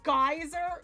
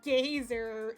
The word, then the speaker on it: Geyser: Oh, did I say it wrong? Geyser. Oops. My bad, guys. Not the gazer.